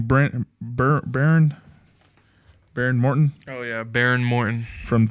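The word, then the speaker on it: Behren Morton: Baron Morton Oh yeah, Baron Morton.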